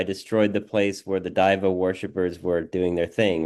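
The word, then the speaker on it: دیو: of Mazandaran, a white div, as they say in Persian, or Dave, if you want to classicize the pronunciation of it, a white demon.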